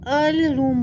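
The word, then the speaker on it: heirloom: तो देखो यहाँ पे जो है ना, इसको अल रूम बोलते हैं। यहाँ पे एच का क्या हो जाता है, साइलेंट हो जाता है, जो एच होता है साइलेंट हो जाता है।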